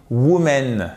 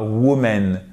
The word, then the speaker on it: women: Vous avez l'accent tonique qui est sur la première et le O et le E se prononcent à chaque fois comme un I court. Women. OK? Women et pas woman.